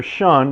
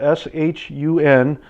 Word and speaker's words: Shun: specialty cookware store and get one these are Sean that's spelled s-h-u-n fish tweezers shun is a super high quality